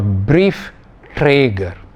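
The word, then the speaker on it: Briefträger: if you pronounce it it is kauf man you hear the emphasis twice cough man so it is known as a is two-syllable word or brief traeger brief traeger twice that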